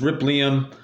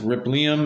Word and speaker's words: Rippleium: you can see rip Liam right here it is spelled Ripple but it's rip Liam um just depending on where you put that syllable but uh they want want me to pronounce it rip Liam is fine I just called Liam for short